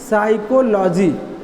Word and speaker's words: psychology: अंग्रेजी क्या होती है साइकोलोजी क्या होती है साइकोलोजी स्टार्टिंग से होता है इसे हम पीसीज साइलेंट होता है इसीलिए मुझे साइकोलॉजी पड़ते